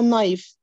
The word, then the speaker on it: knife: B اللي هي اولها K مش بننطقها اسمها knife.